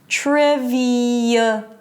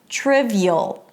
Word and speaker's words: trivial: But something in the shift between the high E and the schwa creates a 'y' sound. Okay? So listen to it. 'TRIV-y'l', 'TRIV-y'l'.